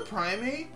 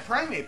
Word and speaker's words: Primeape: gym leader it's a girder God except for primate Prime yeah primeape I said it right that time except for